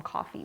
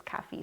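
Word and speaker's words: Kafie: their name wrong cafe i want to call them coffee but it's caffe cigars k-a-f-i-e coming from honduras this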